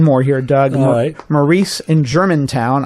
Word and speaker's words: Germantown: here doug maurice in germantown i mispronounced that the other week and said germanton because that's how it looks on paper i have a stockbroker